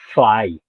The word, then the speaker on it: Llay: No, it's Well, if you ask a Welsh speaker, they'll pronounce it differently from how I pronounce it. I call it cly.